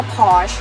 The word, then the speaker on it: Porsche: ประเทศ เขา ก็ จะ เรียก สั้น ๆ ว่า พอร์ช แต่ ถ้า มา จาก ต้น กำเนิด ของ เขา